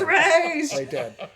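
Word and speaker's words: Ra's: mispronounced rae chalgool ghoul it is racial ghoul it's not ross it's race and two different actresses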